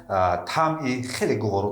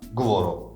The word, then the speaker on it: гуворо: and dughob, which quenches thirst in the summer nd has a very Гуворо (Pleasant) taste. In fact, the pronunciation of the word гуворо (pleasant) also makes the phoneme В [v] more vivid.